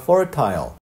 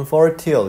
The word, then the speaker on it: fertile: fertility라는 것은 원래가 fertile 또는 fertile 이렇게 발음하기도 하는데요.